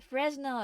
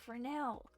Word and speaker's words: Fresnel: The Fresnel effect. No, Fresnel.